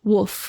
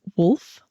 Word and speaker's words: wolf: Woof. Woof. I think Emma means wolf, but she pronounces it. You can't say wolf with an L like that. Nobody says wolf. That's just You say it quick.